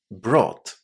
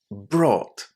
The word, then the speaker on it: brought: Well, it was just 2 sounds. It was the long O sound, or, and then T. Brought. Brought.